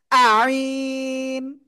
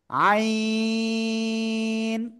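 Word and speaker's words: عين: দিকে তাকান এই যে গলার মধ্যখান চেপে এবার আর বাতাস বের করা যাবে না বাতাস বন্ধ রেখে উচ্চারণ করতে হবে চার আলিফ টেনে পড়তে হবে আইন সবাই একসাথে জোরে জোরে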